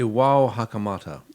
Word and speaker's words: Iwao Hakamata: You spent some time in Japan, so how do you pronounce this lovely man's name? Iwa I think Hakamata? it's Iwao Hakamata.